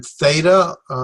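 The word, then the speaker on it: θήτα: it's an a sound then theta very familiar to most english-speaking people because the sororities it's a th sound theme iota summarize the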